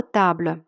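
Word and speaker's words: table: Чому ми не сказали табль, а сказали табль? У нас же наголос завжди падає на останній склад- запитаєте мене ви. У французькій мові наголос завжди падає на останній склад. Але у французькій мові буква якщо вона стоїть в кінці слова, не читається. І якщо вона не читається, у нас залишається єдина голосна таб. Більше наголосу немає куди падати, бо немає голосних.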